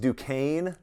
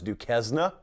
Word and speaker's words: Duquesne: now they open against duquesne which some people still try to pronounce do kezna according to sources close